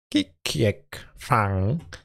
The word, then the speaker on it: ขี้เกียจฟัง: For sure I want to know how to pronounce it in Thai. Khi kiet phang.